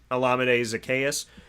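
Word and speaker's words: Olamide Zaccheaus: college that is how you say his name olamide zacchaeus and he is from virginia so i would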